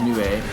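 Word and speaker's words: 鵺: Although I believe that the Japanese pronunciation is Nue.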